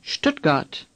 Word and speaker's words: Stuttgart: The ST at the beginning of a word in German is pronounced sht. Imagine an SHT at the beginning of this word and say Stutt. Again, Stutt. Now say Stuttgart.